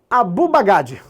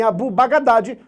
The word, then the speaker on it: Abu al-Baghdadi: Como esse A não é pronunciado, Abu Baghdadi. Se falarem Abu Baghdadi, também é aceito.